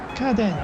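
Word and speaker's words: 家電: See, this is family, clan, and I know on its own to be pronounced ka, right? Rather than uchi or in other ways it'll be pronounced. And this is den, which most often den, which is electric and like electric goods. So I haven't seen this word before, but I knew from just experience there's kaden, and so I got it right.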